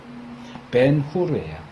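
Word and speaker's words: Ben-Hur: 근데 벤허는 히브리어예요. 벤후르요. 후르. 후르.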